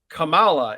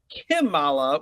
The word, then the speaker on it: Kamala: I also liked how he actually called uh Camala Kamala instead of kimala which everyone else on